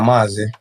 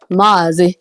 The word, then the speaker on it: Mazi: Mazi. Mazi. Yeah, Maz. But it only has one A. Why is it dragging like that? Yeah, because it's like a titled pronunciation.